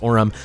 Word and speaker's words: Orim: to call him Bas Orum must be pronounced Oram so what am I